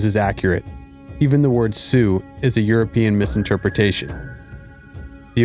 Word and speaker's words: Sioux: a word meaning cutthroat, which to English speakers sounded like Sioux. And when the English speakers wrote the Ojibwe word for cutthroat down, they spelled Sioux like a French word, with a silent X.